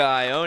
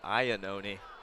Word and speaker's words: Iannone: I believe I've been mispronouncing it. I think it's Iannone, but change that going forwards.